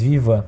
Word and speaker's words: Vivant: se fala francês e por isso até a pronúncia do nome da Cervejaria é em francês Vivan E além disso essa